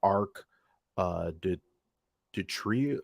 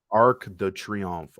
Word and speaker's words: Arc de Triomphe: Now we have the arc de tree de tree. I just had the pronunciation. I'm gonna have to hear it again. Arc de Triomphe. Okay, that's how you say it.